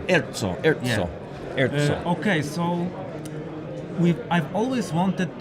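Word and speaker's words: ERCO: Erzo. Erzo.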